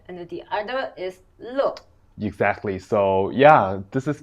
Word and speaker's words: 乐: character, but one is 乐 and the other is 乐。 Exactly. So yeah, this is very interesting. The same character, it can be pronounced as 乐 or 乐.